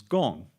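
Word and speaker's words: 公: Uh, the pronunciation is gong in both Chinese and Korean.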